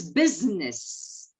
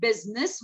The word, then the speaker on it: business: It's business. No, not parliament. Parli. There is I. No, beta, not even that. It's only business where I is silent.